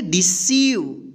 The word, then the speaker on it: deceive: E उच्चारण होगा, यानी बड़ी E की हम उच्चारण करेंगे मात्रा, ठीक। यहाँ पे देखिए रिसीव, यहाँ पे देखिए DECEIVE, इसको क्या पढ़ेंगे? डिसीव।